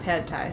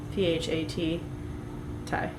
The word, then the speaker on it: Pad Thai: Not Pad Thai. It's PHAT Thai.